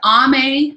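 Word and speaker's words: Aimee: what i do uh her name is ame darling but it's spelled a-i-m-e-e it looks like amy a-i-m-e-e and her last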